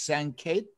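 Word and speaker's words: Sanket: let me show you pronouncing your name correctly it's san kate what is it thank you that's right that's right okay all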